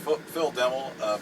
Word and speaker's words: Phil Demmel: I'm here with Phil Demmel, Machine Head. How you doing today, Phil? Awesome, you pronounced my name correctly too.